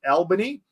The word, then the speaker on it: Albany: y but in Western Australia the town is pronounced Albany Lauren got nailed by an inch ant they're